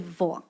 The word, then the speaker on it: voix: But then they decide, no, instead of voice, we're going to put X there. But also, we're not going to pronounce it. And it's just going to be voix.